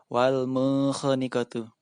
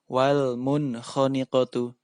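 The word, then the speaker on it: وَالْمُنْخَنِقَةُ: Wal munkhaniqatu. Tidak boleh dibaca wal munkhaniqatu. Tidak boleh. Harus dibaca wal munkhaniqatu.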